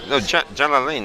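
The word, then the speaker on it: Jalalayn: Jalalain. That's how they pronounce.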